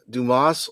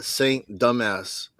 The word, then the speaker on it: Dumas: So, um the the uh the way you pronounce it, is it uh Order of St. Dumas or is it uh St. Dumbass?